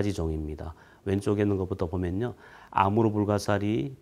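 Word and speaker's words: Амур: 있습니다 아서 금강 인데요 이 흑룡강 의 느 시아 발음이 아무르 입니다 그래서 아무로 강연 하네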